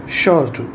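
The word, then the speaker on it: château: और उन्होंने कहाँ कमले करना है, वहाँ पे उन्होंने शॉटू, शॉटू को कहते हैं, ये प्रोनाउंसिएशन इसका यही है कि शॉटू पे हमला करना।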